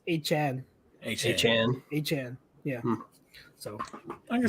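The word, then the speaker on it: Achane: And A-Chain's last name is actually pronounced A-Chan.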